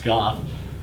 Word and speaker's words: Gogh: And I mean, that's what's crazy is Van Gogh, and that's how you say it, not go, it's Goff.